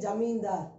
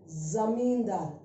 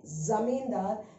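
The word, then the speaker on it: ज़मींदार: Now remember this, when you use this, generally you will have, you might say Jamindar, J-A you might pronounce. No, this is Zamindar, Z.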